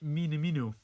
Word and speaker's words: Minamino: what do you make of this news Takumi mini-me no I'm gonna have to get used to this pronunciation Takumi minamino is to be a Liverpool player if you